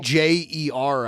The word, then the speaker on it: Meijer: yeah, she like starts some scuff in the background, And it's then, spelled like it's spelled And then, like- Meijer, I think. It's Meyer with a J.